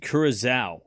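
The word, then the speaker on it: Curaçao: It's pronounced Curacao.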